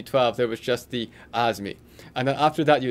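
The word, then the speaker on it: AIME: the aah SM II which we pronounced as the as me and then you do the ask me there was no ask me 10 or ask me 12 there was just the Oz me and then after that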